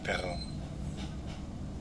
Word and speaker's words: perro: And if you make that sound and like voice it, it's basically an R, like perro.